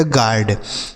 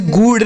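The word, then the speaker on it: guard: जी यू ए से जी यू से हो गया ग ए से अ हो जाएगा आर से र और डी से ड इसे पढ़ा जाएगा गार्ड इसे गुड नहीं गार्ड पढ़ा जाएगा क्या पढ़ा जाएगा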